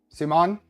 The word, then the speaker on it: Simon: Simon? But closer to the French pronunciation. Simon?